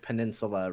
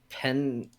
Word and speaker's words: peninsula: We had somebody who had apparently not seen the word peninsula written down before and said, I don't know, it's on Peninsuela Avenue? Peninsuela. Peninsuela. It was always my favorite pronunciation of that.